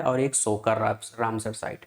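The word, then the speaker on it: Tso Kar: पढ़ते हैं है ना टी हम यहां पर एक तरह से साइलेंट मारते है तो सो मोरीरी और सो सोकर ये दो झील है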